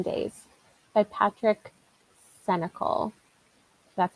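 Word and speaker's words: Sénécal: Or I might start 7 Days by Patrick Senecal. That's how you pronounce that.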